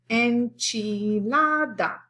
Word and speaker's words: enchilada: don't say kasa we enchilada has four syllables we say enchilada so it's where your voice goes up enchilada burrito we